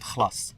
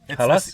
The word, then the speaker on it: خلاص: number one kind, and these are called khlas. خلاص. It's Khalas? yeah, but it's a different pronunciation. It's the same words but different pronunciation. So it's called khlas.